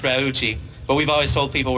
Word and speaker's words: Raucci: last name the story is that it's really pronounced Ruchi but we've always told people rasi because it was easier to say I was